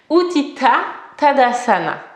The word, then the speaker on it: Utthita Tadasana: L'étoile à 5 branches, qu'on prononce donc en sanskrit Utthita Tadasana.